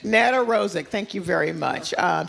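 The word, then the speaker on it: Nedoroscik: Oh, well this, you know, I do not know how to pronounce his last name. Net Rosik. Net Rosik.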